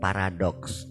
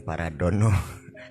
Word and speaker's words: paradoks: Nah, bukan paradon, bukan paradono. Kok saya pra. Nah, itu juga soal ejaan. Salah baca sering ditulis juga paradono gitu kan. Nah, kali ini benar paranya, tapi untuk doks, paradoks.